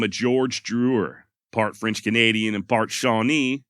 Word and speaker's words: Drouillard: It is French, spelled Drouillard, and apparently the D is silent. I went back and forth on whether to use Drewer or Drouillard, so you may end